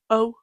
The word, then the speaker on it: 0: When numbers are pronounced, the 0 can be often pronounced O.